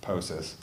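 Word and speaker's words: POCIS: put out passive Samplers the acronym is pronounced poses um but those stay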